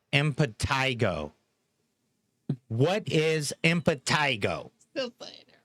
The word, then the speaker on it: impetigo: Impetigo.